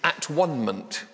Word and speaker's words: atonement: word to worldwide theology it's at onement with pronounced atonement Jesus helps us to